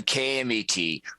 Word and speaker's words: KMET: say it properly so let me say it properly it's on kmet 1490 am and I said M because it stands for America so that's the way you say it it's one to three